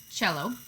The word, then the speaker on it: cello: violin viola and cello so you pronounce that cello I'll go back to